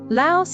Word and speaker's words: Laos: Laos is named after the Lao people, but here's something interesting in English. We pronounce that final S. But in Lao, it's silent.